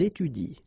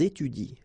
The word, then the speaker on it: étudient: the same rule because you don't pronounce this e, and then even if it's at the plural form, so e n t, well, you don't pronounce it. So you will get ils étudient.